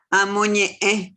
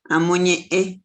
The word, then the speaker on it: amoñe: Amoñe. Así se pronuncia esa última E por la nariz. Amoñe.